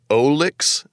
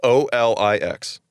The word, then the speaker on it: Olix: zuccania his name is olix nilis i think olex is okay i how do you spell it it's o-l-i-x okay because you say olix and i hear o licks i mean he does